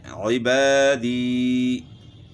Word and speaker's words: عبادی: ساتھ آگے پڑھتے ہیں عبادی، یہاں جو ہے نا الف مدہ ہے اور یا مدہ ہے، تو یہاں جو ہے یا مدہ کی آواز معروف نکالنی ہے، عبادی۔ اس طرح غیظ،